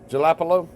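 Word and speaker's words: jalapeño: That's some jalapenos. You know how you say it? Jalapeno? What's it? Oh, okay. It's jalapeno.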